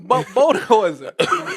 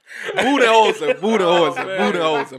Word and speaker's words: Budenholzer: Bodenholzer. What's his name? How you pronounce his name? How you pronounce his name? Budenholzer.